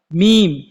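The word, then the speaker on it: ميم: অনেকের মেয়ে পাড়া প্রতিবেশী অনেক মেয়েদের নামই হয় মিম আমরা ওই মিমটাকে সুন্দরভাবে উচ্চারণ করি কিন্তু কোরআনের মধ্যে যে মিম আছে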